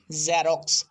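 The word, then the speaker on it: Xerox: যেমন আমরা অনেকে বলি জ্যারক্স, কিন্তু এটা জ্যারক্স না, এটা উচ্চারণ হবে জ্যারক্স, জ্যারক্স, জ্যারক্স।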